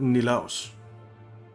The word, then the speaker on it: Nilaus: So he's Danish, and he pronounces it Nilaus.